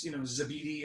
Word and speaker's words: Zebedee: But then she told me it's, Zebedee, and I kind of got the pronunciation from her.